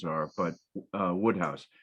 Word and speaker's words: Wodehouse: oh um his first names are but uh Woodhouse it's spelled wodehouse though I mispronounced him when I